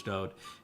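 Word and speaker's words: דוד: His name is Dode. For people that don't like it pronounced that way, that is the way that he wrote it in all of his own psalms.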